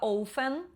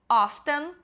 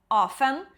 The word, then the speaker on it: often: Essa que eu falei errado por muitos anos, eu sempre falava ofen, não é ofen, é often, ou often. Pode falar o t, pode não falar, tanto faz.